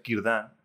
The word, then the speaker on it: Círdan: Y Círdan, que se pronuncia Círdan, es prácticamente un personaje de Tolkien, que es un carpintero de barcos.